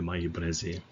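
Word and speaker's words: Maillé-Brézé: But I do believe that the correct pronunciation is the Maille Breze.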